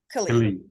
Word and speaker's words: Kali: right? Kali. I know it's spelled kind of has an A sound.